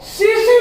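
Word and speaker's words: tsetse: ये तीसी मक्खी कसे पढ़ेंगे जैसे जैसे, लेकिन पढ़ेंगे जैसे जैसे और लिखेंगे सीसी फ्लाई के सलेवरी ग्लैंड्स में पाए जाते हैं। ये सीसी मक्खी या टसे टसे लिखते हैं, टी साइलेंट है बच्चों।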